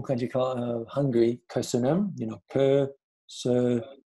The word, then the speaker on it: Köszönöm: There's a lot of Ö's in the word thank you in Hungarian. So in order for you to learn how to pronounce it, just think of kissy kissy your lovey, you know, Ö, the Ö sound, Ö, three of them.